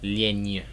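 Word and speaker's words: лень: I'm not the best at pronouncing it, but it's kind of like a ny sound.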